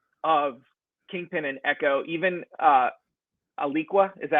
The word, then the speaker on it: Alaqua: Even Aliqua, is that how you say her name? Oh yeah. Alaqua Cox.